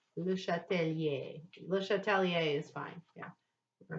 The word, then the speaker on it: Le Chatelier: Le Chatelier is fine. Yeah. I said American. Le No, you said it Chatelier. beautifully. You would normally not pronounce the R.